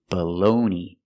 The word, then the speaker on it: bologna: The first vowel is not stressed, so it has a short sound. Uh uh. It's awah. BB- bologoney. The second syllable is stressed. is the long o like no and go. Balone. And the g is silent. And the last syllable is e. It's the long e like green bean.